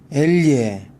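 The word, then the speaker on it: elle: 엘예, 아가 뒤에 붙었을 때 야와 자의 중간 발음이지만 여러분들이 원하는 야로 발음하시든 자로 발음하시든 상대편 외국인 현지인 사람들은 모두 알아듣는다는 거.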